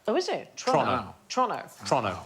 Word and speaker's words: Toronto: So it's Toronto, not Toronto. Oh, is it? Toronto.